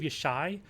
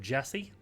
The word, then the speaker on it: Jesse: It's called pronounced Tree of Yeshai. English speakers would call it the Tree of Jesse, from the Old Testament.